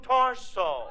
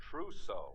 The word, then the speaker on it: trousseau: I just bought a completely new torso. You got a new what? Hold the wire a minute, sweetheart. Hey, Remley, how do you pronounce that word? Trousseau.